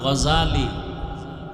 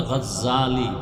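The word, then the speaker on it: الغزالي: নাম হলো ইমাম গাজালী বলে গাজ্জালি না গাজালি বিশুদ্ধ উচ্চারণ গাজ্জালি না আর আল্লাহ যদি কবুল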